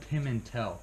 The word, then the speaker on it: Pimentel: It's Pimentel. Pim- Are you familiar with the cheese? Pimento. It's like Pimento. pimento with an EL at the end.